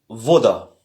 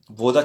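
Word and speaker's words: вода: Donc, le B se prononce différemment, se prononce comme V. Comme dans voiture. Et l'exemple qui est donné, c'est voda. Voda qui veut dire eau, voda.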